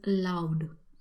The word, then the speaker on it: laud: Next words in our category of praising is loud. It's not L-O-U-D, instead it is L-A-U-D, but the pronunciation stays the same.